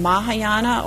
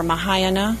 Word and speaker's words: Mahayana: And Mahayana, or Mahayana, sometimes it's pronounced as, that means the great vehicle, and